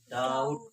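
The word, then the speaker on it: doubt: जब टी से पहले, यानी कि टी है, इससे पहले क्या आया है, बी आया तो बी क्या रहेगा, साइलेंट रहेगा। अब इसे क्या पढ़ा जाएगा, डाउट पढ़ा जाएगा।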